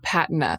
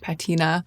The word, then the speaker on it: patina: The Birkenstocks have developed that intense patina of use, a rustic patina, which is for some people pronounced patina. I assure you that it can be pronounced either way.